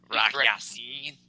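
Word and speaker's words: Rock Ya-Sin: Rock Yasin.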